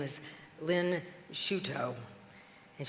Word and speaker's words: Shuto: Her name is Lynn Shuto. And she told people to pronounce her name like she puts her toes in a shoe, or shoe toe. I'm like, I already like her. Lynn Shuto.